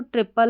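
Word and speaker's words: triple: यहां पर टी आर आई को ट्री करके पढ़ा जा रहा है। तो यहां पर आपने देखा टी आर आई के दो उच्चारण ट्राई और ट्री इस कोड के।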